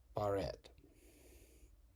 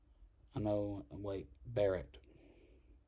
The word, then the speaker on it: Barrett: Amy Coney Barrett. Barrett. See, I mispronunciated the double consonants.